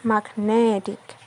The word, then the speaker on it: magnetic: saic each it becomes magnetic the stress move from Mark to net but it remains on